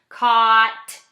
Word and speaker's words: caught: But for this word, there's actually a couple of silent letters in here. We have silent G and H. G-H-T is an ending here that just says T. So K-A-T. Your ending is just the T sound, even though there's all these other letters.